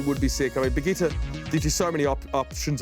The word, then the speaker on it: Brigitte: The new hero's name is definitely Brigitte, like spaghetti. For me, I pronounce it Brigitte.